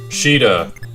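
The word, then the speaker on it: Caeda: Sheeta, even though it's spelled with a C, and anyway.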